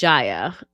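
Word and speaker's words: Jaya: The name of the next arc is called Ja, pronounced like Maya.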